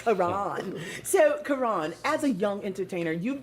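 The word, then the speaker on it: Ka'Ron: So Karan, as a young entertainer, you've been firsthand uh you know or and you've seen firsthand rather how music impacts society.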